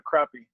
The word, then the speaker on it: crappie: It's spelled crappie, but depending on where you're from in the nation, you'll call it a crappie.